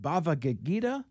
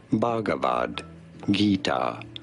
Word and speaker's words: Bhagavad Gita: the sacred Hindu text bhava gagita wrong how do you say it Bhagavad Gita often referred to as simply the Gita bhagavad-gita Bhagavad Gita and now you know okay glad we